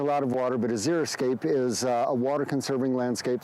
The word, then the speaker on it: xeriscape: I'm trying to say xeriscape Azure Escape it's from the Greek Ziri for dry unscapes for landscape not zero scape which some people say because that refers to strictly